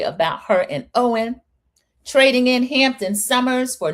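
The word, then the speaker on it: Eoin: It's pronounced Owen.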